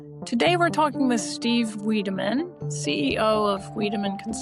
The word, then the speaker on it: Wiideman: Today we're talking with Steve Weideman, CEO of Weideman Consulting, a search marketing consultancy.